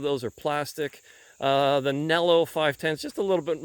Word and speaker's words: Nelo: And please, people in Europe, stop screaming at me, okay? I'll pronounce it Nell for you.